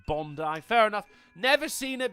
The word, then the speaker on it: Bondi: Oh, um, Memory Lock says it's pronounced Bondi. That's Is it? Yeah, not Bondi. Bondi.